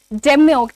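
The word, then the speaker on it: demure: आगे बढ़ते हैं और बात करते हैं डेमोर की। डिम डिम्योर ठीक है डिमोर अगेन आर को साउंड करना जरूरी नहीं है कराना जरूरी नहीं है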